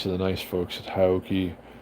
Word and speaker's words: HAOQI: the nice Folks at hioki Hai depending I've heard it pronounced both ways I'm not sure which which is correct I'm told both are it's a great company